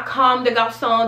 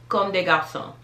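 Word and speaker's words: Comme des Garçons: you live in but this one is pronounced conde garcon now calm de gauss song there's two m's let's keep that in mind come de garzon con de gao song okay this one here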